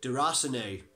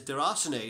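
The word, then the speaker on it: Déraciné: the first one is der hacen a people have been pronouncing it is their arseny so that must be how it's pronounced and ever seen de Rosnay this is again from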